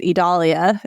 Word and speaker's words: Idalia: people I realize I I realize why I kept mispronouncing it because of Adelia Georgia what one letter difference I figured it out